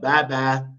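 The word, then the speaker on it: بابا: So instead of Papa, we say what? Baba.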